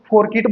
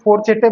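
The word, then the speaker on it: fourchette: अपने हिसाब से इसको, कुछ लोग इसको फोरकिट बोलते हैं, कुछ फोरचेटे बोलते हैं, कुछ फोरचेट बोलते हैं। जो भी आपको बोलना है आप अपने कन्वीनियंस के हिसाब से, अपने कन्वीनियंस के हिसाब से आप इसको कुछ भी बोलिए, लेकिन हमारा प्रोनाउंसिएशन क्या है? फोरचेटे। मैं इसको क्या बोलता हूँ? फोरचेटे।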